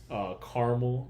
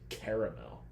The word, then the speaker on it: caramel: It's like caramel, because I'm not going to say caramel. That's the worst way to pronounce it. No, it is caramel. Yeah, I had to think about it. It's caramel popcorn. But it's caramel popcorn. Ooh, you're from the north, so you're wrong.